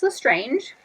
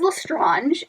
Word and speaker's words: Lestrange: with me but like for example Bellatrix Lestrange he says whilst ranj and the audiobook and like I feel like that's wrong because a compressor in